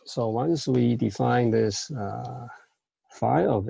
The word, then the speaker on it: phi: Okay, so then phi of n, so this Greek letter is pronounced phi.